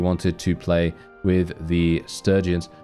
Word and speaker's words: Sturgians: I actually call them Sturgians, but I believe the official pronunciation for them is Sturgians. But for some reason, I always call them Sturgians, so I just stick with that.